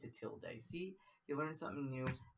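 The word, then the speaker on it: tilde: is called a till pronounced till day it's a till day see you learn something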